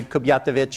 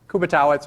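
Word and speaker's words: Kubiatowicz: is kubitz uh most people call me Professor Kuby because they can't pronounce my last name that's okay um actually I was in Eastern Europe a few years ago and everybody was pronouncing a katovich or something like that which is probably more correct uh in some distant past but I'm fourth generation so kubitz or Kuby is fine uh I have a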